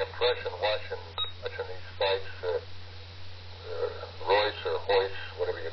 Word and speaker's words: Royce: And, you know why they pronounce it Royce Hoyce? What's that? They're Portuguese, and they have a different way of pronouncing certain letters. They don't speak Spanish, they speak Portuguese. In the country they're from, in South America, instead of Spanish, they speak Portuguese. Uh-huh. So that's why they pronounce ours like H's.